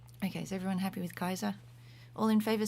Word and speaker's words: Caesar: familiar with Kaiser and the restored classical pronunciation also goes in for Kaiser so which also sounds